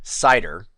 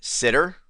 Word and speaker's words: CIDR: say the letters because I pronounce This Acronym cider but many people pronounce it sitter and I've even seen it pronounced as Cedar cider sitter Cedar don't